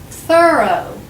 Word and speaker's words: thorough: these two words again these two are easy to get mixed up this word is that's right through and this word is thorough say them with me